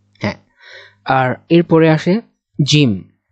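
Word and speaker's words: جيم: হ্যাঁ, আর এরপরে আসে জিম। জিম একটু শক্ত হবে, জিম, জিমের নিচে কিন্তু এক নোকতা।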